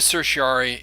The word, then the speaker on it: certiorari: writs of certiorari and I know it doesn't look like that's how it's pronounced but again we're dealing with that kind of bad Latin that's shot through the law arida certiary is an order from